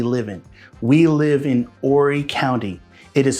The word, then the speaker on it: Horry: We live in Horry County. It is spelled H-O-R-R-Y. The H is silent, just like in honest, or hour, or air.